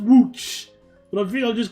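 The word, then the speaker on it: Łódź: We're just on our way to building towards Lods. I'm just I think I'm just going to deliberately call it Lods. Like, I know it's pronounced WooC, but I think I'm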